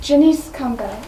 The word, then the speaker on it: Janice Campbell: hello it's pronounced Jenice coumba am honored to be